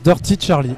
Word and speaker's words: Dirty Charlie: Eh bien, ça se prononce Dirty Charlie.